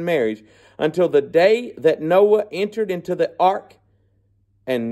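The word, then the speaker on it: Noe: is Noah and uh phonetically you can pronounce it Noah okay we would say no unless you're from Mississippi and that's your last name then they all say Noy but no Noah but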